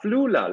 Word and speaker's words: Flula: you say your name yeah floola like you have a flu in los angeles yes yes yes all